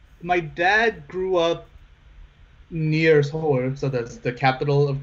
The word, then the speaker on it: Seoul: But Korea's not that big, so Now you said your dad grew up in Seoul. How do you say that? It's two syllable. It's Seoul. Seoul. Seoul.